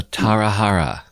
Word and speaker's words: Tarahara: Portuguese because they are it has an H sound in English so it's just the um like a repetition of the two last syllables of Tara so tarahara yes okay okay understood